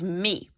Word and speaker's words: mis: participle of metra is me okay mis is pronounced me news evo me de